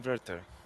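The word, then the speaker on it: Werther: of young spelled worth worth w-e-r-t-h-e-r but it's pronounced inverter the Sorrows of young werter I guess a point that I would want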